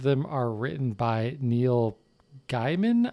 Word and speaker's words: Gaiman: are written by neil gaiman i'm going to guess is how it's pronounced neil gaiman it's gaming okay shame on you